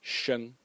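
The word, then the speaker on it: 生: But if you would add this little stroke over here, it would be, and it would be pronounced sheng, sheng.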